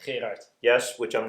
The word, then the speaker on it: Gerard: Hi, Jim Hotaling here again, continuing my conversation with Gerald, best pronounced, Gerard.